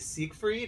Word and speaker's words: Siegfried: We're here with the VF-31J Siegfried, is that how you pronounce it?